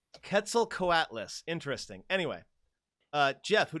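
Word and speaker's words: Quetzalcoatlus: five but the the TL makes it like kind of it's closer to a k sound yeah in English full Atlas it's five syllables cats are quarters yeah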